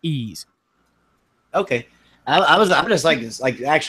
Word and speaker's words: Ys: you were going to pronounce it the way it's spelled it would be like yse 8 you know Ys but it's pronounced ease okay I I was I just like like